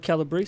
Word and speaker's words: Calabrese: confirmed confirmed confirmed Wow so is it pronounced Calabrese bonanza kilobits it should be calibrated okay but okay the brace brace but yeah we've always the family always said Calabrese so we did that's probably the Ellis Island